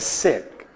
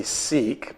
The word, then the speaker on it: Sikh: He was a Sikh. Now, some people say Sikh, but the proper pronunciation is Sikh, short I, whose family traced back to the founder Guru Nanak in the 16th century.